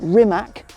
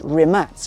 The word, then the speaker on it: Rimac: a little bit wrong it's not rimac it's rimax it's a croatian name real cool then let's